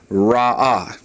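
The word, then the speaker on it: רעה: Ra, and to make that feminine, all we do is add the comet's hey to it, and it's pronounced ra'ah.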